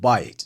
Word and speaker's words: bite: us here, the word bite. In English, it's a perfectly normal word. You know what it means. But in French, there's a word spelled the exact same way, but pronounced differently.